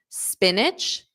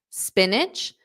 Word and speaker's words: spinach: becomes K zukini zukini spinach spinach notice that it's an itch itch at the end spinach spinach eggplant o